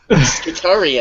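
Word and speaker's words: Skitarii: Skitari, as the British say.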